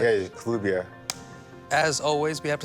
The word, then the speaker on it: Kelubia: Kelubia. Yes. I'm pronouncing it right. Yeah, Kelubia.